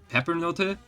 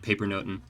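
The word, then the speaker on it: pepernoten: I think it's technically supposed to be pronounced more like Peppernote, but we always called it Papernoten.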